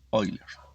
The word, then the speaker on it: Euler: paul euler qué bueno euler se puede pronunciar como oilers y aún hoy los